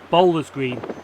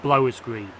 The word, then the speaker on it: Blowers Green: For some reason in the video I kept saying Bowler's Green, but it's actually pronounced Blowers Green.